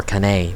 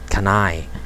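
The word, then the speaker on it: Cannae: was in canai i i pronounced it before kane but can i and latin i mean i guess whatever it is suffering inaccuracies notable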